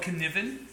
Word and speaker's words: Cynefin: i find really useful it's called kniven it's a welsh word that means your spaces of multiple belonging it's spelled c-y-n-e-f-i-n and it comes from